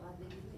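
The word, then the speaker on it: Madrid: 마드립 마드립 마드립 음마드립 아 배로 끝나는 애들은요 항상 혀를 혀끝을 살짝 깨물면서 발음해 주셔야 돼요.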